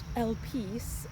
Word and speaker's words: Elpis: word and I realize it's actually pronounced el peace but when you see it written people are gonna say help this so we're gonna go